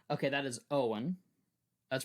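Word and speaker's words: Eoin: n that's the first name okay that is Owen that's pronounced Owen o apostrophe f a o d h a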